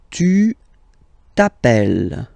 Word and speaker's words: tu t'appelles: All right, second form, tu t'appelles. Okay, remember, final s not pronounced.